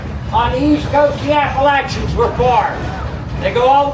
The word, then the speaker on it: Appalachia: Appalachia.